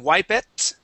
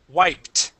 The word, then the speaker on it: wiped: the word wiped okay you were close here you had ended with a t sound saying wipe it okay but we do not want to pronounce that e right in the middle we go from that P sound here okay right to the T wiped wiped good one more time